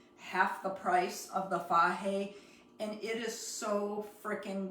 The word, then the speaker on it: Fage: The good stuff is either the Fage yogurt. If you're not familiar with it, it's spelled F-A-G-E.